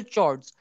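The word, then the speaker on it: chord: There are to parallel चॉर्ड्स of length, अक्सर लोग उसको चॉर्ड बोलते हैं, कुछ लोग उसको कॉर्ड बोलते हैं, आपकी चॉइस से जो अच्छी प्रोनाउंसिएशन लगे उसको बोल दो।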